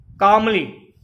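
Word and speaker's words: calmly: कामली, L silent है जो है, कामली मीन्स शांतिपूर्वक।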